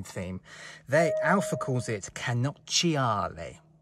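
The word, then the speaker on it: cannocchiale: they alpha calls it canochiale how do you like my italian pronunciation if any italians are watching this feel free to tell me offer my pronunciation but i think that's how it's pronounced canochiale and the literal translation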